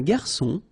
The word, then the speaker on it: garçon: Remember when we get this cédille beneath the C, it will give you the pronunciation S of C. So instead of K, as it should be with O.